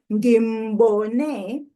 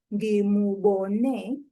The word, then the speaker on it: ngimbone: You will hardly ever hear people pronouncing and enunciating the u of the object concord mu in spoken language. So you just hear ngimbone instead of ngimubone, ngambona instead of ngamubona.